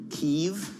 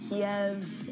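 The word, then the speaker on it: Kyiv: Ever since we started calling Kiev Keev, I'm going to pronounce all cities the way local people do. No, it's not the same because it's the Russian way to call it Kiev and it's not a Russian place.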